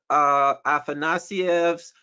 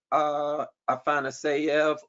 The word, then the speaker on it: Afanasyev: we will have a book talk on Viktor Afanasyev's Historical Materialism. So that is Sunday, November 24th at 11 a.m. Eastern. We will have a book talk on historical materialism, the book written by Viktor Afanasyev, or Afanasyev, I've heard both pronunciations.